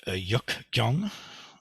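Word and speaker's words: 역경: In Sino-Korean, it would be pronounced Yuk Gyong. Gyong is the name for sutra or Jing.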